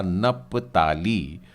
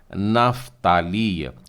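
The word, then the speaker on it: נפתלי: हो गया हमारा हिंदी में बोले जाने वाला नप्ताली और इससे आप इब्री उच्चारण में नफ्ताली, नफ्ताली है, इस तरीके से उच्चारण करेंगे।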